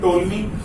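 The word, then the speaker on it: Ptolemy: इसी के साथ एक और बड़ा नाम आता है टोलमी, यहाँ पे पी साइलेंट है।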